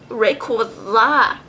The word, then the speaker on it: Rayquaza: Ooh, Rayquaza. Ooh la la. Hey, it rhymes with ooh la la.